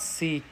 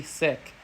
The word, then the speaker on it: Sikh: uh another thing is with the pronunciation of sick it's not seek it's actually sick I know I know